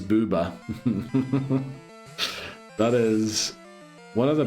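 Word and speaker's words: ブーバー: Fun fact, Magmar's name in Japanese pronounced Boober. Yes, it is Booba.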